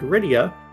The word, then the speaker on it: Rydia: While Apex Corvid found Rydia, which is the correct pronunciation.